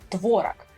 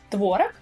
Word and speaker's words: творог: Если вы не знали, то в русском языке есть слова, в которых допускается постановка разного ударения. Например, слово творог. Можно говорить творог, а можно говорить творог. Оба варианта являются правильными. И таким образом давайте возьмем, например, 2.